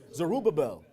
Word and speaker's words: Zerubbabel: How do you pronounce his name again? Zerubbabel.